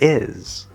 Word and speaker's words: is: Now, this is commonly mispronounced for two reasons. Because it has two sounds. First is the vowel. This is not the sound e or æ. It is the second vowel on the vowel chart.